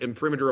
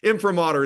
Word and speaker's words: imprimatur: Imprimatur is, I believe, the correct pronunciation.